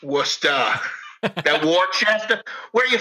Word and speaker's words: Worcester: Just so you know, it's spelled Woostah. Worcester.